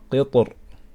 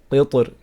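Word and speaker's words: قطر: So either we can say وَأَسَلْنَا لَهُ عَيْنَ الْقِطْرِ, okay, with a strong ra, قِطْر, or we can pronounce the ra weak by saying وَأَسَلْنَا لَهُ عَيْنَ الْقِطْرِ, قِطْر.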